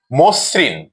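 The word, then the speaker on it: মসৃণ: আদি অ এর পরে ঋ বা ঋকার থাকলে অ ও ও রূপে উচ্চারণ হয়। আমরা একটি উদাহরণ দিয়ে দেখি। মসরিন মসরিন এই শব্দটিতে আমরা দেখছি ম এর সাথে অকার আছে এবং দন্তস এর সাথে ঋকার আছে অর্থাৎ ম এর অকারটি ওকার রূপে উচ্চারিত হবে মসরিন এখানে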